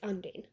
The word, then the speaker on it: Undine: It's Undine.